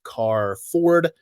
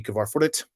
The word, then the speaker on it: Carford: It's pronounced Carford. I know it looks like it should be Kavarfordit, but it's not.